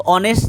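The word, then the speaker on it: honest: sound कैसा है तो यहां पर एस साइलेंट है हम लोग क्या पढ़ते हैं ऑनेस्ट पढ़ते हैं ना ऑनेस्ट पढ़ते हैं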